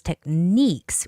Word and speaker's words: techniques: The stress is on I, so it's techniques with I stress.